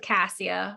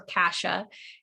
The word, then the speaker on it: cassia: clove two drops of cassia or kasha is how you can pronounce it and then one drop